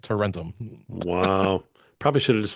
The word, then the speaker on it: Tarentum: it's cheaper to rent them. Tarentum, that's the name of the town. Tarentum. And that's how you remember how to say it. Tarentum.